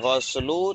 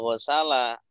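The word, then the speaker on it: غسل: Nah, ini ke ghuslu cara membacanya tidak ghusala. Karena dia apa? Masdar. Karena dia sebagai masdar ya, isim masdar. Ghusala yaghsilu ighsil la taghsil ghuslan. Ya. Jadi bacanya ghuslu.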